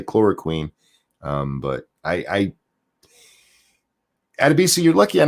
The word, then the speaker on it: chloroquine: Adebisi says, I think it's pronounced chloroquine. I believe it is, and I say quine all the time. I can't. I said it that way the first time, and it's just stuck in my head.